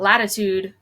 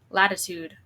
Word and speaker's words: latitude: r obviously but but latitude I don't I don't even really pronounce that first T latitude I almost say it as a d so I remember it